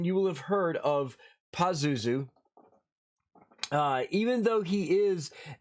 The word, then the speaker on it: Pazuzu: of the demon pazuzu paisuzu pazuzu uh you'll hear pronounced different ways but it's pazuzu uh pazuzu is a